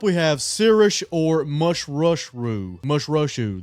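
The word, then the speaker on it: Mušḫuššu: Mushrushu, that's how you say it.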